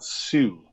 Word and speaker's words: Hsu: Hsu. Like Hsu. Just like the H is silent, you know.